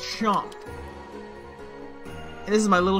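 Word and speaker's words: Seam: The name's, pronounced Chomp.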